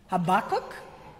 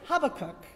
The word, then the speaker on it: Habakkuk: you spell h a i how do you pronounce h a b a double k uk habakkuk well when i was a student at san